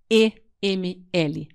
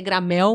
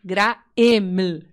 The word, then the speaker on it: Graeml: O meu sobrenome é alemão, então ele é meio chato, tanto de pronunciar quanto de escrever. É Greml. Então parece que escreve, parece que é Gramel, mas é Graeml, ML no final.